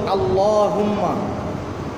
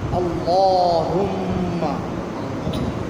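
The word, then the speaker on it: اللّٰهُمَّ: কারণে আল্লাহুম্মা বলেন আল্লাহুম্মা এই আল্লাহ শব্দ বা আল্লাহুম্মার যে লাম এর আগে জবর বা পেশ হলে লামটা মোটা হবে মুখ ভরে উচ্চারণ হবে মুখটা ভরে উচ্চারণ হবে আর শুধু জিহ্বার আগা লাগাইলে হবে না শুধু আগা ব্যবহার করলে হবে না বরং জিহ্বার দুই পাশের কিনারা আগার সামনের অংশ এবং ডাইন বামের কিনারাও ব্যবহার হবে আর দাঁতগুলা কি সানায়া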